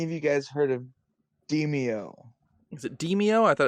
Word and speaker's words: Demeo: Might be DeMeo. I don't I've know. heard of it, Demeo. but I don't know I what thought it it was is. demo. It's DeMayo. Is that DEMEO. how to spell it?